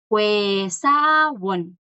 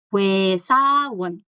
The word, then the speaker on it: 회사원: La mayoría de la gente es Huesawon. Huesawon. Esto de acá, chicos, recuerden que es la O y la I. Vocales compuestas que no suenan como están escritas.